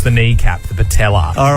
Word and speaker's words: patella: Where in the human body would you find the patella? Ben, What is it, mate? the patella Rhymes with Nutella.